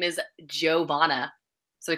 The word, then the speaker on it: Johanna: No, it's weird because her name is spelled with a Y and it's pronounced a J, whereas mine's a J, but it's pronounced like a Y.